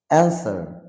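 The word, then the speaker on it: answer: বাঁকানো বাঁকানো রেস্ট মানে নিংড়ানো রং মানে ভুল আনসার আনসার আনসার মানে উত্তর তো এই সমস্ত শব্দগুলোতে double you will be silent in the time of pronunciation okay next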